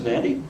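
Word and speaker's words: Nadi: I said, "This is Nandi, but it's N-A-D-I," she said. Well, that's how it's pronounced.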